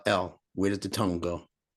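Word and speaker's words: ل: it you see the L and Elevate it's elevated up to the top you can't say l unless the tongue touches the top palate and like when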